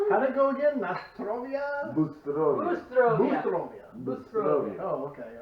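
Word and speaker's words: Будьте здоровы: Actually, it's Bustrovia. To you, Bustrovia. health. But Say it again. Bustrovia. Cheers. The whole thing. But if you actually broke it down and really forced the pronunciation, it would be Butiestrovia.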